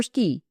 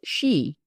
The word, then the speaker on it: Ski: "Yes'm, Ski, Elmer Ski. No'm, not pronounced she.